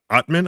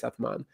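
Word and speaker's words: Atmane: may maybe I'm just maybe that's the English pronunciation I'm complet like you know the E should be more or less silent in French the the the the last vowels are very um often or not even vowels actually just the last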